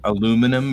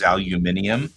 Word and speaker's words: aluminium: So privacy versus privacy, or for that matter, aluminum versus aluminium, are just it's the same word. It means the same thing. But in British English, aluminium actually is spelled like that. Like there's extra letters in it.